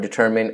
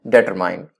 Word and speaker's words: determine: determine to settle a lot of people unfortunately pronounce the word determined as better mine please note that mine but when I say